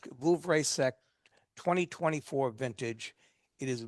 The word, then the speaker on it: Vouvray: It's Vouvray, that's The it. one, the one that he pronounced was Vouvray.